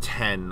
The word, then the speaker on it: iPhone X: So the iPhone X is pronounced 10, apparently, according to the engineer.